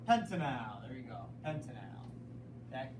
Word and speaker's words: pentanal: of this one p pentanal there you go Pentel okay again AL is my pal so that we don't say pentanol pentanol would be an alcohol pentanol would be that